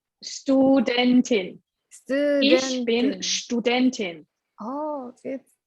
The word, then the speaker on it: Studentin: can say ich bin Studentin in this example. It's been student. How to say? Studentin. Ich bin Studentin. Studentin. Oh, it's been studentin. Well, Yeah. So S sounds like sh, like Yeah.